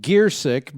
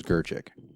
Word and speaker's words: Gearsick: Now, I've been pronouncing your name wrong all week. I thought it was Gerchik.